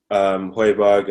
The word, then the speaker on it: Højbjerg: So I think the transfers that we've got so far are, because if you look at the 2 players we've got, Højbjerg and however you say his name, you said it right.